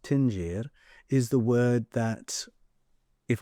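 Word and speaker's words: dingir: Earth and Dinger it's spelled Dinger but it's pronounced tinger is the word that if I go to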